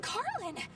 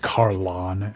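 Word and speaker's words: Carlan: It's from Carlin. I've never seen him. It's pronounced Carlon, actually.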